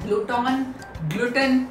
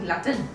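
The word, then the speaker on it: glutton: double T ओ एन तो आप इसे ग्लूटा ग्लूटेन या कुछ अजीब सा प्रोनाउंस रिएक्शन नहीं आप इसके लिए लाएंगे आज कहेंगे glatin glatin ठीक है लैटिन का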